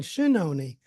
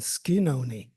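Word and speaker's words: Schenone: name of that building shinon it's spelled that way however the family still uses the Original Italian pronunciation skoni when the talkies were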